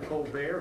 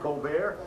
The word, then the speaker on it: Colbert: of famous comedian stephen colbert he pronounces it colbert she pronounces her name colbert bush i'll throw it back